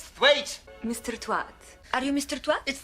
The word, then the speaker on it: Thwaite: Look, Mr. Twat. It's pronounced thwaite. Well, it's spelled twat.